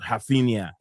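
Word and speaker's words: Raphinha: So basically what I saying is how you would say in the way they're saying it in the Portuguese Brazilian kind of way.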